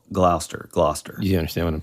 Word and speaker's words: Gloucester: I specifically looked up what looks like Glouchester but it's actually just pronounce GL glou Gloucester you understand what I'm